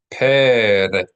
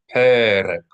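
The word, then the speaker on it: פרק: Perek. Perek. P-E-R-E-Q. Perek. Accent symbol over the first E.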